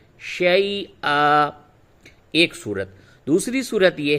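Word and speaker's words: شَيْئًا: پہ وقف کریں گے تو ہوگا شی آ، اور ہجے کریں گے شین یا زبر شی، حمزہ الف دو زبر ان، شی ان، اور وقف کر کے رواں پڑھیں گے شی آ، ایک صورت۔ دوسری صورت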